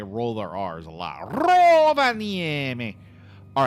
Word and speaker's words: Rovaniemi: The Finns, they do roll their R's. I really don't think you say it as Rovaniemi, but it wouldn't surprise me.